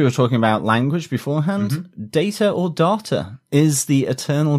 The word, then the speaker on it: Data: and he said well one's my name my name is data the other word is data and that's just how you pronounce that term effectively so it has